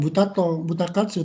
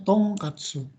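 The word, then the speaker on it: 豚カツ: Ini bacanya bukan buta katsu, tapi dibacanya tong katsu.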